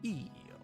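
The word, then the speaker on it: イ: then curves this is e or e it is equivalent to the vowel i in english you pronounce this as e as it like in the word easy i think e g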